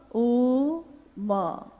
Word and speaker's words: ओम: उच्चारण करते हैं तो हम कहते हैं ओम, है वो अ उ म, यानी उत्पत्ति, स्थिति और लय, जी।